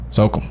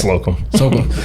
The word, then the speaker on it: Slocum: of Peak Athletics, let's say it right, Slocum. That's it, right? Slocum.